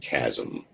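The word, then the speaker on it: chiasm: a too many eyes because it's not spelled how it's pronounced it's pronounced chasm the optic chasm this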